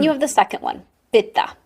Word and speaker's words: pitta: Then you have the second one, pitha. Pitta is fire. And pitha is fire with water. And in the west, we pronounce it pitta.